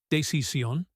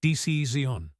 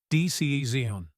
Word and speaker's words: decision: The first word you said, decisión, is actually pronounced decisión. The stress is on the second syllable, decisión."